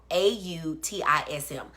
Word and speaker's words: autism: And just so we make sure, it's awe, like I'm in awe, not R, not artist, but awe, AUTISM.